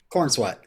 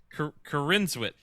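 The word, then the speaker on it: Corenswet: It's not Corn Sweat. Stop calling it Corn. Sweaty corn. Corn Sweat. When he got cast, I specifically did research to figure out on how to pronounce the name. Corn is wet. Cornswet.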